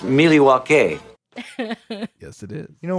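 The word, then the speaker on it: Milwaukee: do with a gun actually it's pronounced miliwake yes it is you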